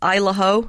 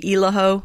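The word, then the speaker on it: Isle au Haut: pronounce this isla yes the locals say isla some of the summer people say iloho it's french for high island okay and you were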